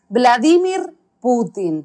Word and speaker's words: Vladimir Putin: hablar de vladimir putin que además me parece que es importante aclarar que así se pronuncia vladimir putin porque en latinoamérica hay algunas dudas respecto de cómo se pronuncia este apellido claro vamos a hablar